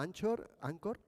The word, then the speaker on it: Anchor: una web que se llama ancor en inglés pero se escribe anchor FM Y a partir